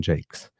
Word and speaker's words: Jakes: Sorry, I said Jacques because it's a it's spelled uh the French way. And uh I always when I see something spelled in French, I always go French first, but it seems that it's a Jason Jakes and not Jacqu.